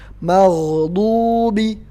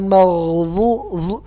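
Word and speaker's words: الْمَغْضُوبِ: Karena do yang nggak ada tongkat. Nah, itu bacanya tempat keluarnya di lidah bagian tengah yang pinggir. Bukan di ujung lidah. Jadi lidah nggak boleh keluar. Maghdubi, bukan maghzu, nggak ada angin yang keluar ya.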